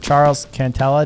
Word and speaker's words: Charles Cantella: pressure podcast i'm very excited to have mr charles cantela did i pronounce that right charles you did you did